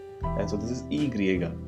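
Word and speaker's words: i griega: The next one is E griega, right? We saw the E Latina, which was I, and so this is E griega.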